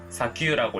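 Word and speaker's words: 砂丘: 사구는 사규라고 읽고 언덕은 오카라고 읽습니다.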